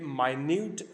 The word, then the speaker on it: minute: यूज़ करते हैं तो फिर ये मिनट होगा, जो मोमेंट, लम्हा, टाइम के लिए यूज़ होता है। और जब हम इसको एज एन एज इट यूज़ करते हैं तो फिर ये माइन्यूट प्रोनाउंस होगी, तो सेम स्पेलिंग है